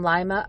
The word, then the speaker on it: Lima: William Vernon Bates was a 32-year-old businessman from Lima, Ohio. Could also be pronounced Lima, Ohio.